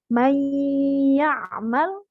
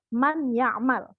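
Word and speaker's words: من يعمل: Contoh, may ya'mal, jadi tidak dibaca man ya'mal. Beda dengan izhar. Tidak dibaca jelas, tapi didengungkan. Suara nun sukun masuk ke ya. May ya'mal.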